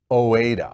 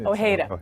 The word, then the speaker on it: Ojeda: Mexican artist Alex Oweda, I believe. Is that how you would pronounce it? Ojeda. Ojeda. Okay. All right. Kind Oh, of like, hey, oh, I hate ya.